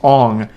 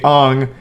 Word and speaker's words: Aang: And everyone already knows this, but his name's not Aang in the movie, it's Ong.